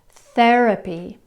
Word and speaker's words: therapy: Therapy, thermal. How different does that sound? In French, you put your tongue behind the teeth. Thérapie. In English, we put our tongue between the teeth.